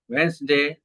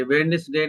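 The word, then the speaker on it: Wednesday: फिर हम यहाँ पे आते हैं, यहाँ पे सिंस मंडे आप डालते हैं, ट्यूसडे, ठीक है, ट्यूसडे, वेंसडे, ये वेडनेसडे नहीं है, वेंसडे, ये डी साइलेंट है, वेंसडे, ठीक है।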